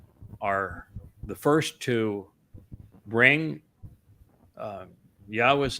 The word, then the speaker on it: Yahweh: We are the first to bring Yahweh's name, the proper pronunciation of it, to his people.